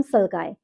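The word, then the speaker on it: sulci: में डिप्रेशन होता है उसको बोलते हैं हम सल्काई, SUCCI। अपनी अपनी प्रोनाउंसिएशन है, उसके अकॉर्डिंग आप देख लीजिएगा।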